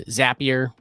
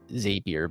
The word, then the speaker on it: Zapier: and then I use zapier I hear people say zapier but I I always say zapier because they say zap things so why would I